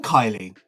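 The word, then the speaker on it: Kiely: Goalkeeper Dean Kylie. Turns out he's not pronounced Keley.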